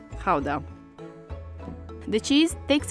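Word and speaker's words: Gouda: this one behind me depending on whether you're a native you would pronounce it either GAA or Kaa so since we're talking about authentic Dutch cheese we're going to call it how the cheese takes its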